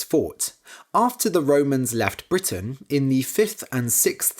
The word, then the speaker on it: Briton: the Celts were called Britain spelled b-r-i-t-o-n confusingly it's pronounced the same as the name of the country Britain today we still consider